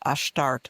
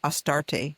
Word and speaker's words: Ashtart: You have the older mother goddesses, and you have the maiden figures like Ashtart, which the Greeks Astarte is their way of pronouncing that.